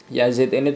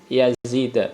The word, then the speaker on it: Yazid: Ya, Abdurrahman ibni Yazid, bukan Yazidi. Harusnya biasanya Yazidi, tapi ini karena ism ghairu munsharif akhirnya bacanya Yazid.